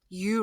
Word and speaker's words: eu: with no no nucleus you rhymes with do have a nucleus we